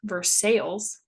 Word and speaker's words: Versailles: My favorite are Versailles, which is pronounced Versailles, and Russiaville, which is pronounced Ruchaville.